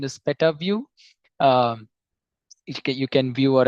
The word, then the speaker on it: Petavue: you know uh it's it's actually the actual pronunciation is PETA view um you can view or analyze pedabytes of